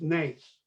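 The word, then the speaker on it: נס: it is a challenge the word for miracle in Hebrew is pronounced NACE and the word for challenge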